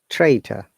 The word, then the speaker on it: traitor: Traitor. Look, first R is pronounced, the last R is not pronounced.